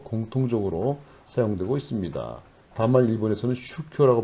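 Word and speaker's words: 宗教: 다만 일본에서는 슈쿄라고 발음하고 중국에서는 쫑찌아라고 발음합니다.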